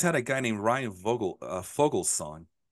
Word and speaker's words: Vogelsong: The V's are pronounced like F's, I found out, and you can't tell me otherwise.